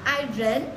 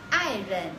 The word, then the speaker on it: 爱人: Và khi các bạn đọc, các bạn không được đọc là ai rến, mà các bạn nên đọc là ai rến. Từ rến này là bị câm đi nhá.